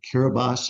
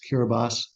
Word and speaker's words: Kiribati: the island country of kiribas it looks like Kiribati but the way they pronounce it is kiribas and it's it's a